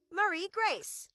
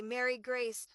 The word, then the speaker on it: Marie Grace: Marie Grace. I have noticed that sometimes people say Mary Grace or type Mary Grace in instead of Marie Grace.